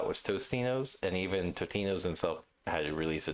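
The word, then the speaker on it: Totino's: Which is the correct pronunciation? Totinos or Tostinos? Totino or Tostino? Tinos? No S or S, basically. Yeah. Totinos.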